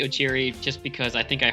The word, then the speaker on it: Okyere: I don't know, I've heard Koreans pronounce Okyere. I've always pronounced it with a K rather than a chi.